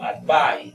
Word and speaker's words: advice: es en este caso advice advice es de la pronunciación aquí de esta s es como una zeta entonces aquí se debe